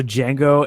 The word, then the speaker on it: Django: So Django and Maria Maximoff. Is it DJ? It is DJ. Wow. The D is silent.